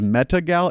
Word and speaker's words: Metagal: This is Metagal, Metagal, not like I met. Well, it's spelled like I met a gal, but Metagal as one word.